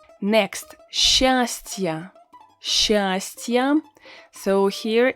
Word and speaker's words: счастье: S, Ch, when you have this combination, you need to pronounce it as Sh in the majority of cases. Sh. S, Ch is pronounced as Sh. Of course, if you say счастье, people will be able to understand you, but you will sound really unnatural. So we pronounce it as sh. Счастье.